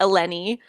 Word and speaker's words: Ellene: e l n e that's how you spell it it's pronounced alenny you can call her